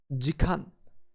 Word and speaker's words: 時間: we get an hour we pronounced an hour as deacon we can remember chicken